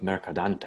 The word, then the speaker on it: Mercadante: And then the next piece, I'm seeing a composer by the name of Mercadante, if I'm pronouncing that correctly.